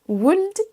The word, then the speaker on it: would: Tous ces mots sont piégeurs parce qu'ils ont un L silencieux. On ne dit pas walk, talk, would, could et should.